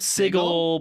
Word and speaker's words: Sigil: Sigil, Rhymes with but wiggle. I will let you know Wiggle, that wiggle.